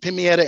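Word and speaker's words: Pemayetv Emahakv: And then Pimietta School, which is called the Brighton Charter School, it's pronounced Pimietta and Mahaga, which means our way of learning.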